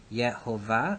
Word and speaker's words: Jehovah: God referred to as Jehovah and this is where that comes from is that yeah ova the mixture of the pronunciation of the syllables of the consonants of the Divine Name yet hey Bob hey and the vowels of the word Adonai yeah ova yeah you will rarely